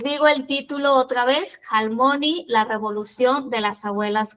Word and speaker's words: Halmoni: Claro, Almoni se escribe con h. H, almony sería. Dudé mucho en dejarlo en el título porque para nosotros en español la H no suena.